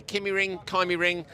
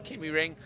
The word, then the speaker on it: KymiRing: Tapainen, I think, is the correct Finnish pronunciation. Oh, by the way, Kymiring, it's a discussion, it's ongoing. We're going to ask more Finnish people. Everybody we've spoken to says Kymiring.